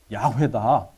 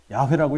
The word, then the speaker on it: 야훼: 근데 이제 이거를 여호와라고도 부르지만 또 이제 어떤 학자들은 이게 이제 정확하게 표현하면 여호와가 아니라 야훼다. 야훼라고 읽어야 된다.